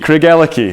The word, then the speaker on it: Craigellachie: turning in the door so Craig key say all together what have you got CRA ke Craig key there that is how you say and on that note